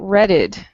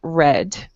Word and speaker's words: read: Okay, but remember, you're not saying redded. Okay, you're only saying read.